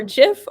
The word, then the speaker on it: GIF: in our hosting team we've got a jeff person and we got a gift person uh we have people in the comments uh the founder says it's jeff uh roman um i think that the internet said sure founder but we disagree it's gif um we we have avery saying it's definitely gif or jif hard to know is like the peanut butter brand so there's jiff and